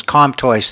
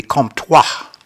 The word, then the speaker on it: Comtois: Nancy Arroway and Marcy Comtois. Is that how you pronounce her name? Twice? Well, Comtois. the Anglican pronunciation is Comtois. In French, it would be Comtois, Oh, okay.